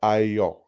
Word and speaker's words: Ayo: So like ayo, they say it like ayo, like yo, like which is how you say it, but because Yeah, that's how Italian sounds.